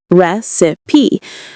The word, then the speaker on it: recipe: Recipe, on the other hand, has three syllables. Recipe. We stress the first one and the second is awa sound. Recipe.